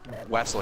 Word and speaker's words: Wessel: So Wessel here is his boy. He's the closest he could get to Russian, right? He's pronounced Vessel. He's Ruseving it. he's Ruseving it basically. Rusev Butya.